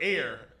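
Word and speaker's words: heir: It's just like the word air.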